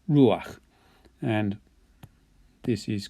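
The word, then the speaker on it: רוּחַ: your second consonant but because it's a guttural it likes to have that a sound so this becomes ruach it's again just to help you pronounce that guttural ruach and this is called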